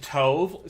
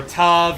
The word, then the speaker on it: Tove: Uh, and you know, like it's supposed to be pronounced like tove or tub, you know, like dove, but the English direction has them pronounce it as tu for no reason.